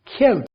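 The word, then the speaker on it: cute: गया क्योंकि शुरू में और यू की आवाज क्यूट यऊ उसकी मैंने साउंड यहां पर बताई है क्यूट क्यूट क्यूट Q right उ नहीं है यू नहीं है क्यू यू वाली साउंड नहीं है क्यूट राइट और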